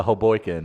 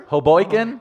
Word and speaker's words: Hoboken: I'll go straight over to Hoboken and Give me that. Take those pink dice. Take those pink dice out the mirror. No. Hey, baby girl. What, straight over to where? Hoboken?